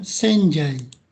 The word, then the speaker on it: 洗剤: Dibacanya senjai.